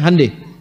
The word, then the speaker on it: Hyundai: Honda mereka bikin Hai Hyundai itu dibacanya Handai ya jadi selalu begituah itu